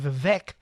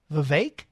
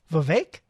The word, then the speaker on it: Vivek: he said I'm saying vivec let's see he said pronounce it it's pronounced like cake so Vivek that's it Vivek you messed me up